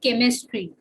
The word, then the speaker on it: chemistry: Just like in English, when we have a word called chemistry, it starts with CH, but that particular pronunciation is that of ka. Okay. But in another word like chair, it also begins with CH, but the pronunciation of that CH is that of cha, ka and cha. Chemistry, ka, and chair, cha.